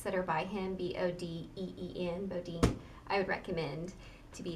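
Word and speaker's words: Bodeen: Bodine. S.A. Bodine is an author that's written other books, so any books that are by him, B-O-D-E-E-N, Bodine, I would recommend to be exciting.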